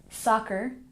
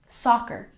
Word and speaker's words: soccer: And soccer has emphasis on the first syllable. Soccer.